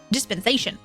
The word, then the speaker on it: dispensation: Dispensation. Rhymes with sensation.